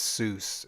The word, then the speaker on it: Seuss: Oh, and he says it's not Sug, it's Seuss. It's pronounced Seuss. So maybe like, I mean, bro, you might have to. You might have to. Yeah, you might have to spell it differently if that's the case. Because hey, everyone's reading suck, bro. When I look at SUC, I see suck. So Seuss. Oh, Seuss. Yeah. Okay. It is pronounced Seuss, not sick.